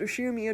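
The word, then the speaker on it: Ushiromiya: is one of my cousins his name is pronounced usher mia george he's five years older than me so he must be turning 23 this year since the oshirmia cousins consist of two boys and two girls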